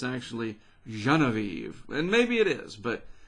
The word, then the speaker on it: Genevieve: Well, according to the East Pacific Basin Storm Pronunciations Guide from the National Hurricane Center, if I'm understanding it, that's Genevieve. Genevieve.